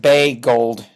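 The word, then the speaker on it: Boegehold: his name bold Bagel okay um just think B gold that's more or less how it's pronounced yeah um and so he writes constantly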